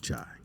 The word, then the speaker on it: Jai: It's pronounced Jai.